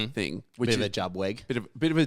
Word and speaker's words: JuBWeG: before we go thing, which bit of a jubwe.